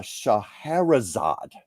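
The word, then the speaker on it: Scheherazade: of and I want to make sure I pronounce this right the uh uh shaherzad there I had to look it up to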